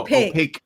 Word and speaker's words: opaque: No, opaque. Not opaque. Opaque. You're adding a syllable. It's just opaque.